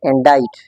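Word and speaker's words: indict: It is no sound in this word, so that's why it's pronounced as indite.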